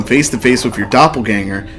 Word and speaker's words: Doppelgänger: You know, it's actually pronounced doppelganger. You know you're full of shit. The bell. It will gong 27 times. The gonger. No, but in all honesty, Used to Doppelgänger. the German pronunciation is doppelganger.